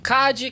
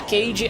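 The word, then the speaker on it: Cady: Cad, que na verdade se pronuncia Cage, é uma garota que nunca pisou numa escola.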